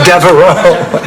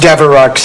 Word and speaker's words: Devereaux: Oh, no, that's Devereaux. It's only pronounced Devereux in limericks.